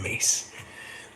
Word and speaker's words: Myss: Caroline Mace. Mace is spelled Myss. And it's Caroline with an E at the end.